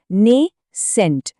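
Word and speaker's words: nascent: अब एक बहुत ही खूबसूरत शब्द नेसेंट। इसका प्रोनाउंसिएशन है नेस सेंट।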